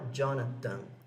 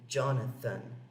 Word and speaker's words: Jonathan: E esse nome aqui dele, Jonathan, é pronunciado assim, não é Jonathan, é Jonathan, com esse TH aqui.